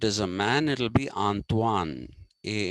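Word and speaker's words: Antoine: n e d t e antoanet it is pronounced okay if it is a man it'll be antoan a n t o i n if it's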